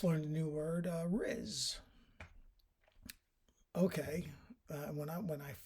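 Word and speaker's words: rizz: first heard that word I thought somebody was mispronouncing Ritz as in Ritz crackers or the richz hotel no to Riz is um a shortened variation form of Charisma okay and so that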